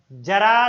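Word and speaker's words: ज़रा: इसका अर्थ हो गया जरा सी दिल में दे जगह, तो बुढ़ापे में क्या खाक जगह दे? यहां उच्चारण होना चाहिए जरा, जरा उधर खिसकना, जरा सी दिल में दे जगह।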